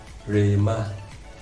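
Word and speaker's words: ῥῆμα: Now it is pronounced Rema, which means Rema, I mean the instant word.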